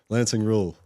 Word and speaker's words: Lancing Ruel: Lancing rule. What's going on, man? Did I pronounce it right?